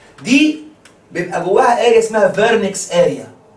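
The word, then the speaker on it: Wernicke: دي بيبقى جواها اريا اسمها فيرنكس اريا. فيرنكس تتكتب كده، ده الماني، الماني دبليو تتنطق في زي فولكس فاجن.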